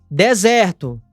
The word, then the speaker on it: desert: Cuidado para você não confundir ela com essa outra palavra, que tem apenas um S e a pronúncia é desert, que é deserto.